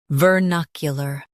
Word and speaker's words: vernacular: Today we will learn how to pronounce the word shown on the screen, vernacular. First, let's hear its American pronunciation, vernacular.